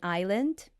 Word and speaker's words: island: like colonell right and why we have silent s in Island eand right they talk